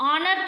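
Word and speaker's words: honour: यहां पे एन लगाएंगे हनर है हनर को हम हनर नहीं पढ़ते हैं क्या पढ़ते हैं ऑनर पढ़ते हैं तो एच हमारा साइलेंट है ऑनर रहेगा तो आ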